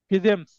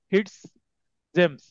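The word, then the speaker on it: Fitzjames: এখানে দেখেন নামের উচ্চারণ কয়েকটা আছে, ফিজেমস অথবা ফিটস জেমস স্টিফেন। তো এটা উচ্চারণ হতে পারে, ব্র্যাকেটটা উচ্চারণ হতে পারে, লক্ষ্য করবেন।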